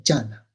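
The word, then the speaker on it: jhāna: E il Buddha parlava Pali, quindi quando ha imparato l'arte della meditazione, e l'ha imparata in India appunto, pronunciava la parola dhyana attraverso l'accento Pali che è jhana.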